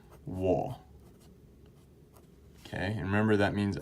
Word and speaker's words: 我: seven all right and the way you pronounce this one is wool okay and remember that